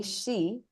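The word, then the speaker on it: し: will show up but since we practice so hard to say she let's not confuse it okay again phonetically it is she so I would suggest that you also practice typing Shi instead of Si although SI also works when you type that is not the actual pronunciation but it works it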